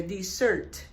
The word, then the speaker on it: desert: Entonces, y ahí se pronuncia igual que el postre, dessert.